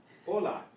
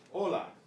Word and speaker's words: hola: The H is silent except in the combination CH.